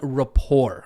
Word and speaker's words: rapport: your students something called Rapport okay now Rapport looks like it is pronounced as Rapport but Rapport is actually pronounced rapport with a silent T and so in order